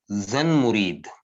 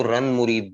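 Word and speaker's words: زن مرید: जन मुरीद, अच्छा पंजाबी में इसको रन मुरीद भी कहते हैं। सिंधी और पंजाबी में इसको रन मुरीद भी कहते हैं, वैसे ये जन मुरीद है। वैसे बगैर नुक्ते के भी कहते हैं इसको रन मुरीद, लेकिन सही लफ्ज है जन मुरीद।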